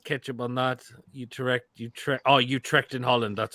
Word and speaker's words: Utrecht: Oh, Utrecht in Holland. That's how you pronounce it.